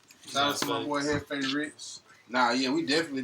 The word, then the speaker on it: Jefe: A lot of people, when they trying to say my name, they say Heffy or Jeffy. Yeah. It's Hefe in Spanish for boss, you know what I'm saying?